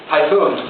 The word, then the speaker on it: Tayfun: So I say Tayfun, just like the hurricane, right?